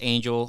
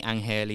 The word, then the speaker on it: Angel: so like you said my name is Angel or you can call me anel if you can if you're okay pronouncing it that way I I was talking